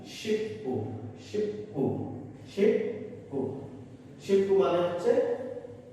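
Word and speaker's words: 십구: শিবখু, শিবখু, শিবখু। কিন্তু dear viewers, এখানে এর উচ্চারণটা শিবখু হবে না, কারণ আপনাদের নিশ্চয়ই মনে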